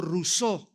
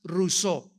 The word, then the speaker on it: Rousseau: mundo llamado Jean Ja rosau rosau o o rousseau como lo quieran pronunciar en francés Jean Ja rousseau este hombre nació en Suiza y surgió dentro